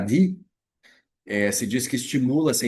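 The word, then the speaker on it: dhīḥ: E a sílaba Di, D-H-I-H, Di, se diz que estimula essa inteligência.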